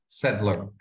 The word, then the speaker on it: {log}: be a language which I think is pronounced Setlog by Maximiliano Cristia and Gianfranco Rossi. Yeah, I'm here. Is that how you pronounce it? Yeah. Braislog or something? Setlog.